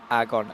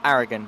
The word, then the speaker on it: Aragon: He's also corrected my pronunciations as well. Aragon. Okay, no, that's fine. Not Aragon, because I'm special.